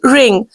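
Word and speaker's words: wring: you can see but W is this is not ring no this is ring W is silent here ring the clothes please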